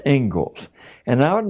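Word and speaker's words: Inglis: Looks like English, but it's pronounced Engles.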